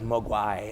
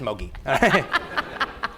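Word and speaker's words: Moguy: And I thought it was Mogwai, and then Pierre said, no, it's just Mogi.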